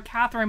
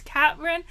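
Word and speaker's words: Kathrine: at cat katrin jepson i say her name wrong all the time i call her catherine but it's katherine jefferson moore's articles on quillette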